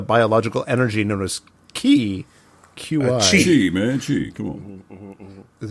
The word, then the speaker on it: qi: Chi, man, Chi. Come on. Is that pronounced Chi?